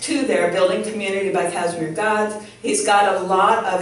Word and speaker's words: Kazimierz: And my client, Kazimierz Gaz, pronounced Kashmir or Kazimierz Gaz, helped him write that book.